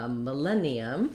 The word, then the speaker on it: millennium: millennium a thousand years we have second syllable stress so our letter i is gonna say a short reduced if or even uh a reduced schwa i'm gonna write that like this ma then we have our red tent vowel in our stressed syllable len that's where i'm going to be long i'm going to hold that len with a clear vowel i have